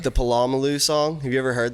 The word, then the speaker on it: Polamalu: it's Polamalu. Edmund Nelson. He was a sideline reporter. He was.